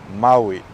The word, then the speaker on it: Maui: there you have I so you go from Ma and then I Mai I don't know why I'm doing this but that's how you're supposed to pronounce yeah Maui okay for the last